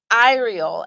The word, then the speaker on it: Iriel: Okay, so Iriel.